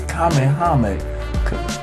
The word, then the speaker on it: Kamehameha: It's Kamehameha.